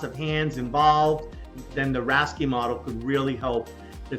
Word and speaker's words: RASCI: hands involved then the rasy model could really help the team succeed so let's get into a how-to guide again it's pronounced rasy for the r a c I letters you should also know